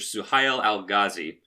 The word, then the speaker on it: Suhail al-Ghazi: Suhail al-Ghazi.